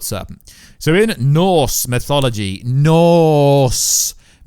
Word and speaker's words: Norse: So in Norse mythology, Norse, N-O-R-S-E, before you guys say I said it wrong, Norse mythology, the world serpent is actually one of Loki's children.